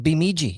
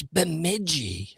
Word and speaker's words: Bemidji: He's like, Bemidji, you're all about to die. And then the chat's like, it's Bemidji.